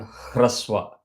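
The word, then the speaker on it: hrasva: Short vowels are also called hraswa. Hra. You see the way I'm pronouncing it. Hraswa. So you start with the sound from the nabhi. Chant and end with the ra.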